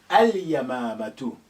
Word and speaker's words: اليمامة: Ya is a moon letter. اليمامة. اليمامة. So al has sukun on the lam.